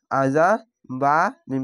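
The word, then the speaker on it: عذاب: আইন যাবার আ, জাল আলিফ যা, আযা বা মিম পেশ বুম, আযাবুম। তাসদীদ ওয়ালা অক্ষরের সাথে মিলতে গেলে একটি জাবার, একটি জের বা একটি পেশ বাদ হয়ে উচ্চারণ হয়।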